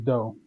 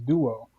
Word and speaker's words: Duo: Duo is a common word, even though it comes from Liberia. It's Yeah. pronounced just like it looks.